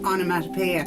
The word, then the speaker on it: onomatopoeia: Onomatopoeia.